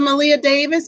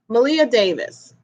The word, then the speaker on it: Maleah: Her name is spelled Maleah and Davis. Okay.